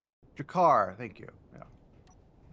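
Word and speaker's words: G'Kar: Jakar. Thank you. Yeah, I think that's how you pronounced it. G- K A R.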